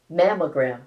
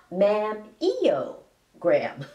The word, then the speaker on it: mammogram: to pronounce the word mamogram correctly it's m o gr it's not M EO gram mammo means memory gland